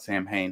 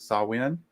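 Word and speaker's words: Samhain: saw what was it it's not sam hayne how did we pronounce that sawin salt win yeah it's the same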